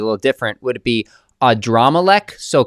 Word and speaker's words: Adrammelech: Would it be Adrammelech? So, correct my pronunciation if that's not right and tell us about this figure. Yeah, this guy in the Bible he is called Adrammelech.